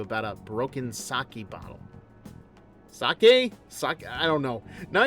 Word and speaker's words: sake: It's sake. Sake.